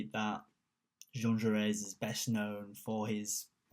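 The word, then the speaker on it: Jaurès: heard, I've already used two different ways of pronouncing Jean Jaures. I've said Jean Jaures, Jean Jaures, it's Jean Jaures, and there's going to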